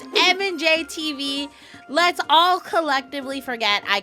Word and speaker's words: MandJTV: It's M&J TV. Let's all collectively forget I completely mispronounced it the last time I reacted by MandJTV.